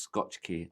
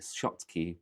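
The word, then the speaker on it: Schottky: It's pronounced Scotch key. I know, I like saying Scotch key. I don't know why. I know it's Scotch key, shot key, but I say Scotch key.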